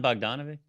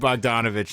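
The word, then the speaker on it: Bogdanović: Is it Bojan Bogdanovic? Bojan Bogdanovic, Okay. yeah. So close to Bogdan. Bogdanovic, yeah. Is an injured man. Cousins, right? Yeah, dude, they're cousins. They're everybody named Bogdanovich is cousins.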